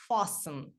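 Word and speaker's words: fasten: ваші ремені до речі оце слово вимовляється як fathen буква T звук ч не вимовляється це Silent letter нема буква далі Також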